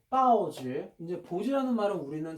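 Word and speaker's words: 报纸: 중국 발음으로는 빠오지.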